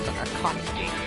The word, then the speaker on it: Akatsuki: Say it weird. It's pronounced as Akatsuki.